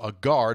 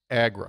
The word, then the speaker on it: Agra: for business staying in Delhi but travel to agar to visit the Taj Mahal excuse me Agro